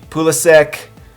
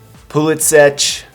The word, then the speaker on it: Pulisic: Now the pronunciation of this name could be Pulisic, Pulisic, different pronunciations, but in America they seem to say Christian Pulisic.